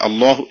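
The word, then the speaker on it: الله: ആവുകയും അത് പിന്നീട് അല്ലാഹ് എന്നാവുകയും അപ്പൊ അതിന്റെ യഥാർത്ഥ ഉച്ചാരണ രീതി അല്ലാഹ് എന്നോ അല്ലെങ്കിൽ അള്ളാഹു എന്നോ ആയി മാറുകയും ചെയ്തു അപ്പൊ അതിൻറെ അർത്ഥം യഥാർത്ഥ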